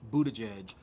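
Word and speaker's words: Buttigieg: a such issues with the possibility of Pete Budaj edge being because that is how you say it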